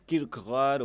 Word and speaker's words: Kierkegaard: pronuncia en danés Kierkegaard o algo así, yo no soy muy bueno.